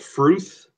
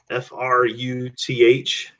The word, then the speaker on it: Fruth: They're called Fruth. Fruth. Like rhymes with truth. That is the weirdest name. Like, who came up with that? I did not kill Yeah. Okay. Yep. So I can do Fruth.